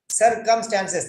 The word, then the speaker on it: circumstances: circumstances see stances circumstances this is two syllables circumstances three syllables how can we break like this you cannot you have a problem with breaking of the word it is sir come stances circumstances now you cannot break